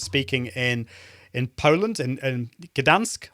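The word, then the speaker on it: Gdańsk: in in Poland in Gdansk I don't think he pronounced that the the ger so its dansk which is on the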